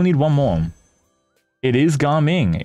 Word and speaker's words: Gaming: It is Garming. It is Garming. Dude, I'm getting flamed out for pronouncing it right this time. Imagine. We still need one more. Still calling him Gaming regardless?